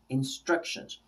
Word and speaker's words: instructions: syllables three and now on which syllable is the stress instructions instructions and so they'll divide it here and then on this little line they'll put two because it's on the second one how about tomorrow tomorrow